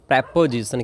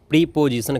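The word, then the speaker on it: preposition: 26 में हम लोग पढ़ेंगे प्रेपोजिशन के बारे में। प्रेपोजिशन बहुत सारे इसको लोग प्रीपोजिशन कहते हैं, जो कि रॉन्ग प्रोनाउंसिएशन होता है, इसको हम लोग बोलते हैं प्रेपोजिशन, प्रेपोजिशन।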